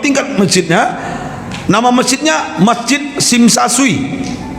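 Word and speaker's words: Tsim Sha Tsui: Nama masjidnya Masjid Sim Sa Sui. Ya, Tesim, Tesa, Tesui tulisannya. Dibacanya T-nya hilang, Sim Sa Sui.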